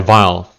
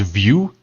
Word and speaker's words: Vile: This guy, Vile. But it's actually pronounced View, as you can see.